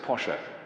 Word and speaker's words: Porsche: me who it was actually you pronounce it Pasha Ferdinand Porsche but everybody says Porsche so that's how that'll do but the same man designed